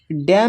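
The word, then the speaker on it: dam: यहाँ पर है डैम, डैम में भी एन साइलेंट है।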